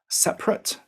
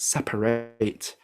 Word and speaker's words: separate: to mean through forward separate as the adjective but separate for the verb recover to cover again